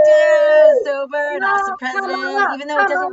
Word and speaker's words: Kamala: Sober and awesome president, Kamala, even though it doesn't look Kamala.